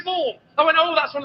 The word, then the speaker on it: Siobhan: It's my name. I know how to spell my name, and it's not S-H. Well, what is it then? S-I-O. S-I-O. Siobhan. What are you on about? It's Siobhan. S-I-O. Oh, I could have sworn there was an H in there. Where does that go then? It goes in the middle.